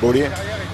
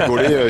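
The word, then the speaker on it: Bole: Tout le monde dit Bollet. J'ai dit Bollet, je le connais pas, le garçon. Donc, c'est Greg Abel. On dit Bollet, alors ouais, on va dire Bollet.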